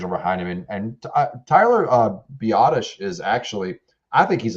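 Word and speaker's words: Biadasz: I know they brought back Mac, and then you have I know it's Biotish. I like to call him Tyler Badass. That's because I didn't know how to pronounce it years ago.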